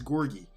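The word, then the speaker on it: Gorgui: It's Gorgie. I heard him pronounce his own name. It's Gorgie.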